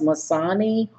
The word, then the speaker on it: Missoni: this is the row right here and it's pronounced Missoni home but it's yeah it's through the company